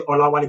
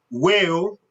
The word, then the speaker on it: Olawale: So imagine after the Olawale there is a W-A-L-E there, whale, right? But that's not the pronunciation.